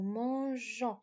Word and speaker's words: mangeons: Nous mangeons. And I told you that I keep the E here, le E, before ONS because I need it to be pronounced je, not ga, not mango, mangeons.